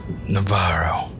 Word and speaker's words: Navarro: Are you sure it's pronounced that way, Navarro? Navarro.